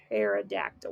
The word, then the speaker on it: pterodactyl: And at the end, I have to choose the pterodactyl, which starts with a P. Okay, the P is silent. Pterodactyl.